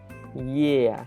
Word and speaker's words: Е: carefully, you'll hear that it sort of consists of two sounds, right? Yeah, yeah. You can even tell by the way I spelled it in English that there's kind of like a Y sound, and then there's kind of like an eh sound. So first sound is y, y, and then the second sound is eh, eh. So together it makes yeah, yeah.